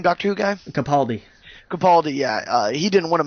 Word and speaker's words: Capaldi: Capaldi, yeah.